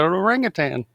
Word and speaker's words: orangutan: And it's an orangutan. Orangutan. It's difficult to say. It's the tang.